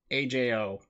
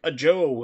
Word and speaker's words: Ajo: living in Tucson there's a road called Ajo Ajo and people still call it like people like who live there like a Joe it's like no it's